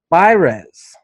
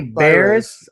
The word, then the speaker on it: Baires: get to his hobby by rez i said it right for the first time thank you for not attempting to roll the yard yes i always say bears i say bears i say everything wrong